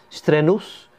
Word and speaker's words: strenuous: you pronounce this properly strenuous strenuous this is three syllables this is strenuous okay strenuous and even